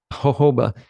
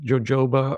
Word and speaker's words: jojoba: there that it's hoba it's actually native to Arizona so that's why it gets the Spanish J which is pronounced like